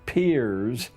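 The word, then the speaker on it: Peirce: philosopher human history has produced he was it's pronounced peer but it's spelled as if it were Pierce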